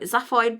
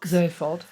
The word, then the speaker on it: Zaphod: So in 6 we've got, I'm going to say it wrong, but Zaphoid Beeblebrox. Zaphod.